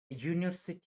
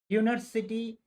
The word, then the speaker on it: University: example a cat book University sounds like you University sounds like you therefore